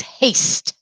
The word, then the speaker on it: haste: second vocabulary word is haste we're going to use a ah and we're going to use the final silent e to make it say its name haste write that down